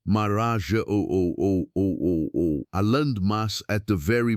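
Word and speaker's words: Marajó: Considered the island of Maraja, pronounced Maraja O.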